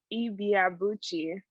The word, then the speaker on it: Ibeabuchi: So my last name is Ibeabuchi. So Ibeabuchi. Yes. Yeah. Ibeabuchi. Like 5 syllables.